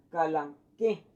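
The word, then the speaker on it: Kalanchoe: Entonces voy a eliminar la CH por lo que es una K y esta letra OE como una E. Por eso me dice calanchoe, se va a hacer como pronunciar como una calanque.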